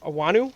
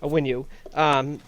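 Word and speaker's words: Onwenu: Those 5 guys up there, with Macy, Tooney, Wynn, Andrews, and Awanu. Did I say his name right? Yeah. Awanu on the right tackle. Awinu, I believe. Awinu. Yeah, Awinu.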